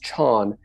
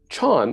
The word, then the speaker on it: Chan: right so the term gets shortened to just Chon in China in Korea the term is pronounced Something Like Son uh in Vietnam it's